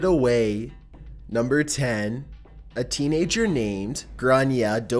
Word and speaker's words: Grainne: A teenager named Grainne [“Graw-nya” (video pronunciation link here)] Dowdall and her friends believe that she has captured a paranormal entity using Snapchat.